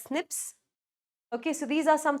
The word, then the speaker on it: SNPs: They're called single base differences or single nucleotide polymorphisms, SNPs and it's pronounced as snips.